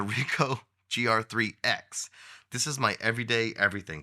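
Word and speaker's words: Ricoh GR IIIx: be my everyday carry the R grx 3 that's probably not how you say it the RICO gr3 X this is my everyday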